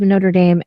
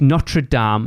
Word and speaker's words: Notre Dame: Notre Dame is somewhere in America that you guys pronounce wrong all the time anyway. It's Notre Dame. It is a foreign word. It's not Notre Dame.